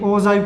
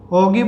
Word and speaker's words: ogive: ये इसका कर्व का नेम है, स्पेशल कर्व होती है ये ओजाइव कर्व्स. ओगिव बोल देते, कई लोग इसको ओगिव बोलते हैं, कोई ओजाइव बोल देते हैं, आप जो मर्जी प्रोनाउंस कर लो इसे.